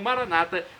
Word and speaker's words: Maranata: na última sílaba o Maranata como dizem nossos irmãos separados os evangélicos ou protestantes com a tônica na penúltima sílaba não importa a pronúncio